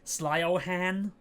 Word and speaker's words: Siobhan: one but it's uh it's like it comes out uh s Ohan it's it's it's spell like Sly Ohan like Valkyrie that's valky